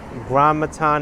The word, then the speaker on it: Gramatan: It's pronounced Gramatan Avenue. Gramatan, okay.